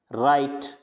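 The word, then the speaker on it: write: इसको रॉन्ग नहीं पढ़ेंगे, रॉन्ग, राइट, रिस्ट, अब देखो डब्लू क्या है, प्रोनाउंस नहीं किया जा रहा, तो यहाँ पे इसको पढ़ेंगे रिस्ट, राइट और रॉन्ग।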